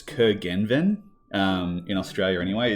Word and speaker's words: Curgenven: So in Australia, I've just broken into 3 syllables and just gone Curgenven.